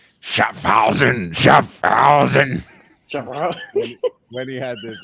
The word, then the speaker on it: Schaffhausen: I think that's like when he's saying Schaffhausen, Schaffhausen. When he had this IWC, he actually mispronounces it too, so it makes it even greater. Like he says, Schaffenhausen.